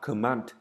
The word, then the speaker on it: command: Ok, command trọng âm sẽ rơi vào số 2, đọc là command.